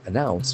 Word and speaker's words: announce: Announce. You make something known publicly. Announce. It's a beautiful pronunciation. Announce. There are two syllables accent for the second announce.